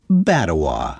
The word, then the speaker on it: Batawa: The new community needed a name, and he suggested combining the word Bata with the last syllable of Ottawa. Why not call it Batawa?